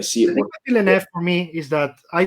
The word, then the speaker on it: Villeneuve: Villeneuve, how do you pronounce it? Villeneuve.